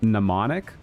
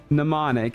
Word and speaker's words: mnemonic: Actually, it's pronounced mnemonic. The M in... Okay, it doesn't help that there's a typo going on here. The M in mnemonic is silent, and it's a Greek-derived word.